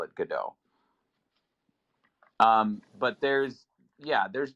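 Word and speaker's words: Godot: like God dot is that like waiting for gdau yeah the very well-known very pop culture relevant waiting for gdau which I read once well okay that's how you pronounce it though it's gdau that's how I've heard people uh from the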